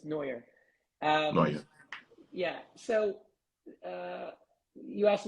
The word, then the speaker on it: Neuer: My name is pronounced Neuer, but in Canada, some people thought it was Neuer, so that's no worries.